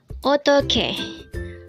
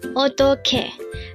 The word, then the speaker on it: 어떡해: 어떡해 어떡해. This is pronounced as a 3-syllable word.